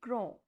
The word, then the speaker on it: grand: So, as I told you that last consonant will not be pronounced and the sound of N is there. So, the pronunciation will be grand, nasal sound, grand.